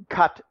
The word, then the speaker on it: Qatar: arab oil monarchy it's they pronounce their country cut Qatar I pronounce it Qatar forgive me I've just always called it Qatar anyway the Qataris 18